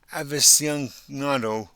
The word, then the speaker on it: aficionado: It was the coffee aficionado over here that said it. Okay, I'm sorry. I have to know how to pronounce that word.